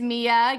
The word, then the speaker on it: Mia: Hi, my name is Mia.